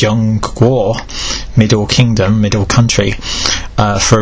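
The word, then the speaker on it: 中国: as the Middle Kingdom in Chinese it's that's pronounced young war Middle Kingdom middle country for a reason this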